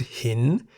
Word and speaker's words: หิน: The single syllable in the word hin is a live syllable because it has a sonorant final consonant no nu. Hin begins with a high-class consonant ho heb. Therefore, based on the tone rules for live syllables, hin is in the rising tone.